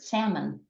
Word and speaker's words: salmon: Another example would be the word salmon. Again, no one pronounces the L.